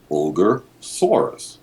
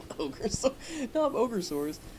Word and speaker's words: Ogasawara: It's completely phonetic, so it's like pronounced like Ogasawara, like the title. Nob Ogasawara.